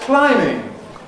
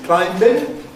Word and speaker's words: climbing: the spelling uh because that b hasn't been pronounced in core English, mainstream English, for many, many centuries.